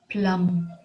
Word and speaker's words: plumb: noticed the subtle difference in the way she pronounced the word another word plum p-l-u-m-b plum very often i hear people saying